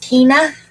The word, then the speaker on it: Kina: Pronounced Kina. Like Tina?